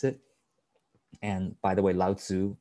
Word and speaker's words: Lao Tzu: And by the way, Lao Tzu, right? It's actually pronounced Lao Tzu.